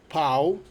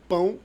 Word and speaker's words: pão: you're pronouncing it right, but you're making pão, which is bread, mix it with pau, which is dick. But anyways, it's pão com linguiça.